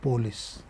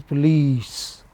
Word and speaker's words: police: former sometimes require along themselves report better economic effort decide leader police It is not police. It is police.